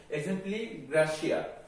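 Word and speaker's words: exempli gratia: instance easy easy এর এটা হচ্ছে ল্যাটিন একটা ফ্রেজ যার উচ্চারণ হচ্ছে এক্সাম্পলি গ্রাসিয়া এটাকে ইজি তোমরা বইয়ের মধ্যে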